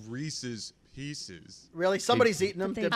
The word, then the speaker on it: Reese's: Well, he doesn't want us to bring up Reese's Pieces. He doesn't like pumpkins. Yeah. The fact that he calls them Reese's, he calls them Reese's Pieces. Doesn't rhyme with feces.